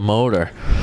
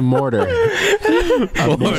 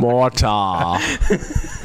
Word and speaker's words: mortar: Mortar. But launch the motor, please. We need some motors down there. I spell it right when I. You should do it like. I know there's an R in there.